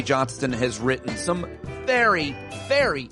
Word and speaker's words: Johnston: now with David K Johnston make sure you pronounce the T you could easily have